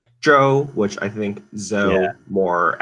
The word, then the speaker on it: Zou: you know um yes but the correct Chinese pronunciation is Jo which I think though